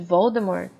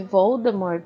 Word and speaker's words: Voldemort: em uma entrevista que Voldemort se pronuncia sem o t no final que isso em na